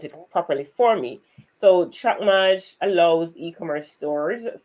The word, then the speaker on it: TrackMage: So it's mage, like major, track mage.